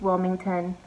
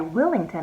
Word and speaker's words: Willington: place in this town so Cape Wilmington I'm sorry Willington I'm saying it wrong ah in the candy